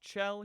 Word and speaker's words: Chell: Now, as you saw, Shell's model got... It's pronounced Chell. Here's an audio clip of GLaDOS saying it. Going to kill you, Chell.